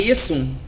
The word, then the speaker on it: Iesum: Iesum, como aparece no credo de Nicéia, Iesum com S, Iesum, na verdade, acho que é Iesum, com I-E-S-U-M.